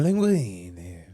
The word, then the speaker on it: linguine: queenie and you said it wrong it's a linguine i used to like fettuccine with my favorite